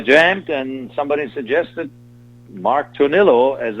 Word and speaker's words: Tornillo: Now, since Mark Tornillo, is that how you pronounce it? Tornillo? Yeah.